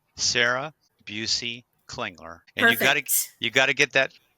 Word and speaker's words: Klingler: Sarah Busey Klingler. And Perfect. you got to get that with the Klingler, you got to get that L in there.